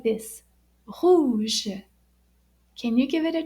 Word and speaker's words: rouge: Rouge. Can you give it a try? Rouge. And it's spelled R-O-U-G-E.